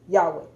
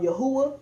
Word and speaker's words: Yahweh: those grammatically are incorrect i'm going to show consistently why you know hey why he pronounced as yahweh is consistently correct as we can see